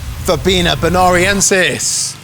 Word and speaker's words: Verbena bonariensis: Verbena bonariensis.